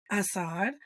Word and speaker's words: Assad: because he was like, most Americans say Assad, and I'm like, Assad. Between English, Spanish, and Arabic, if I see an A, it's an ah. It is automatically an ah.